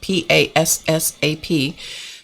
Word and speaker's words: Passap: The brand name was Passap, P-A-S-S-A-P, that nobody ever knew how to say until you owned one, and then sometimes you didn't even know how to say it. We were called Passap.